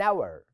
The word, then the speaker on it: hour: اور الاتش ما بنطقهاش، فبقى اول ساوند بقوله ده ساوند فاول متحرك، فاقول ان اور.